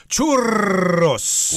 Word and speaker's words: churros: if that's the case if they're from Spain or Latin America then you should pronounce this word as churos wow that's a lot of ours uh no I'm just showing off my ability to do the roll R there you don't have